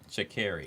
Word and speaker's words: Sha'Carri: I think we're saying y'all are saying her name wrong as well. Her name is Sha'Carri. Sha'Carri.